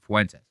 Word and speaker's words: Fuentes: Fuentes. Two syllables. That's it. Fuentes.